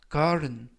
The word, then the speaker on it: kindergarten: 이번 표현은 kindergarten, kindergarten, kindergarten. 이때 garten이 아니라 garden, t 발음이 부드럽게 t가 아니라 르, 그래서 garden, garden 이라고 발음하시면 좋겠고요.